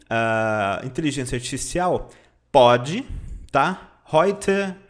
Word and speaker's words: heute: Heute é um advérbio, significa hoje, tá? Você pronuncia assim, ó, heute, tá? Heute. As letras EU no alemão é sempre som de O, I, oi, oi, heute.